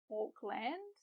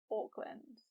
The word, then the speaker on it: Auckland: Now, I sometimes hear learners pronounce it like Auckland, which kind of makes sense. I mean, it is spelt like land, but the correct pronunciation is Auckland.